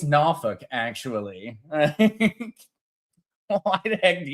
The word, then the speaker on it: Norfolk: To know me, and the correct pronunciation is Norfolk. Uh believe it or not, Nalfuk Nalfuk.